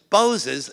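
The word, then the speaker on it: Boz: after Oliver Goldsmith Vicar of Wakefield and that's pronounces nose as boses shortened to Bo's so Bo's nose huh it's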